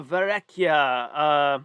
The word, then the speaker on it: Verrecchia: One rep for Antonia Verrecchia. Well, if she were Italian, that's how you would pronounce it.